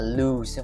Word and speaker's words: lose: muốn gì giảm cân lose We nhớ là lose không phải l lose động từ âm u